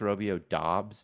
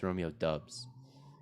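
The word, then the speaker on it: Doubs: went at the 11-5 it's pronounced romeo dobbs no it's dubs it's romeo dubs is it romeo or romeo it's romeo dobbs romeo dobbs romeo doff brian edwards obvious at 11 10.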